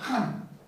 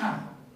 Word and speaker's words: Khan: El gran Khan, se pronuncia Han, una KH, Han, ¿no? Han como Gengis Khan.